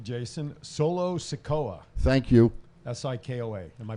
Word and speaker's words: Sikoa: Sikoa. Am I pronouncing that right?